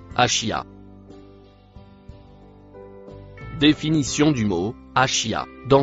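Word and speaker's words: عشية: Le mot vert se prononce achia.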